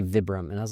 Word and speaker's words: Vibram: a name or like a brand that nobody pronounces correctly and I I've called it Vibram for like I don't know 30 years and then I met somebody who worked for them. They're like it's actually Vibram and I was like